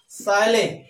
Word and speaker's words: chalet: CHALET। सायले, सायले में होता है बंगला। यहां पर टी साइलेंट है, इसका साउंड नहीं बोला जा रहा।